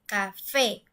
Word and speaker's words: café: Nosotros decimos café, es decir, la última sílaba es la que se escucha mucho más fuerte, café.